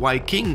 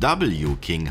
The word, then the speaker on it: W-King: so eine Marke und vielleicht sollten wir erstmal klären, warum es ausgesprochen Y King und nicht W King heißt, was ja im Englischen eigentlich richtig wäre.